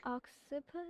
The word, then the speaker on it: occiput: Pronounce it for me. Self-voicing enabled. Annalise, yeah, occiput I think. Occiput?